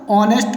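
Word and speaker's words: honest: For example के रूप में देख सकते हैं यहाँ पर ऑनेस्ट को पढ़ते हैं, हमने O से पढ़ा है, H को साइलेंट रखा है।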